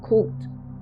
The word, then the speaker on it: khult: Or there is um another one is um khult. Uh it's guttural, so it's khult.